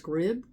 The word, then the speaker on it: Scribd: I believe it's pronounced Scribd, SCRIBD.